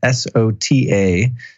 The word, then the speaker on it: Sota: By getting something called the soda silver pulsar, that's spelled S-O-T-A, sota silver pulsar.